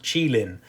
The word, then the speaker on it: Qilin: creature of Chinese mythology, it apparently is pronounced Qilin in English.